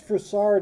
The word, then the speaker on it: Frossard: was Edward frasard or frossard I think it's fard is the way I've always heard it pronounced um life dates 1838